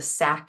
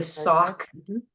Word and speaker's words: Sac: people know about the sack and Fox Trail right it's the sock Fox sock and fox that was the name